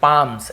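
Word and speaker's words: palms: यानी क्या होता है पाल्म नहीं पढ़ेंगे पाम्स एल साइलेंट होता है पाम का मतलब होता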